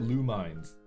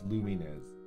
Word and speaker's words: Lumines: roasted for mispronouncing things I called it lumines and people people were like no it's luming is it's like what what